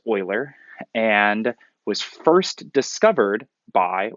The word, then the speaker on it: Euler: Euler it's his last name EU le are pronounced Euler and was first discovered by one of the